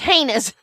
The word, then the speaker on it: heinous: And finally the prosecutor stood up and said, "It's pronounced heinous or something like that. It's heinous, not heinous."